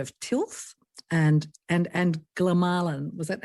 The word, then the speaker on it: glomalin: And it's actually glowin apparently is how they uh it's supposed to be pronounced. And I had I had no idea how it' be pronounced because we s I used to call call it glolin um because we'd only ever read it and never heard it um talk about it.